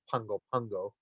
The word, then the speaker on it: Pago Pago: They actually pronounce it as though there's an N in there. It's pronounced Pungo Pungo.